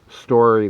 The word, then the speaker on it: Storrie: about story Lake State Park in New Mexico it's spelled sto RR ie story lake and that's in just two miles north